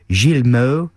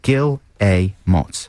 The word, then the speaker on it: Guillemots: guillemots some people say gilmo gilimel i say kilomots yeah it says underneath pronounced gil a motz so there you go